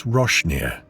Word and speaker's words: Roasting Ear: The locals pronounce the place Roshneer, named because of a flood long ago that washed roasting ears of corn down the creek.